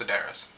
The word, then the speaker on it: Sedaris: by david sedaris sedaris i've come to know that it's pronounced sedaris but anyway um i